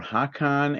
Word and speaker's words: Haakon: We Let's had one with what they called 2 happy children or humans whose names were Hakan and Kristen. That's spelled Haakon and Kristin.